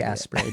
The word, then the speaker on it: Asprey: I thought it was pronounced as spray as in two syllables. I I don't know. I don't I like aspay better because everything that